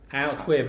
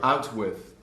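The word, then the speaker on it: outwith: Out with, not I'm out with this, I'm out with my new girlfriend today. No, it's just one word, out with.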